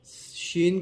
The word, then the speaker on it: شین: پیارے ناظرین، شین کو بھی کم سے کم 5 الف کی مقدار کھینچ کر پڑھیں گے.